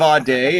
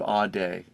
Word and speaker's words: Audé: name into Google Dave a day it's it sounds great but it's sometimes it's hard to spell it's a u d e Dave a day super easy beautiful well man what